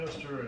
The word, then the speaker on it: tester: The tester is the way we pronounce it, it's Testa in Italian, but Testa means head, so it came that far away.